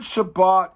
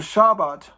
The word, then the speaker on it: Shabbat: it's actually, that means you emphasize the Bet. So instead of Shabbat, it's Shabbat. Or instead of Shabbat, it's Shabbat, and you enunciate the Bet.